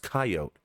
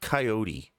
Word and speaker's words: coyote: It's pronounced coyote. It's not coyote. And the reason it's not coyote is because in the English language, we don't normally say the E at the end of words.